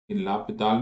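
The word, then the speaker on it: L'Hôpital: ऐसे एस आता है यहाँ पर बट एस इज साइलेंट, तो मैं एस के साथ ही लिख देता हूँ। आपको इन्हें लगे मनीष सर ने क्या लिख दिया, ये एस साइलेंट होता है इसमें। लापिताल भी बोलते हैं इसको,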